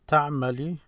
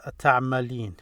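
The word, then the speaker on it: تعملين: So now when I say it as ta'mali, and the proper way to say it is ta'malin. You add the n there.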